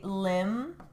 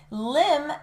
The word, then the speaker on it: limb: I also said a limb difference. Difference. Limb. L I M B. It has the M and the B here, but that B is silent.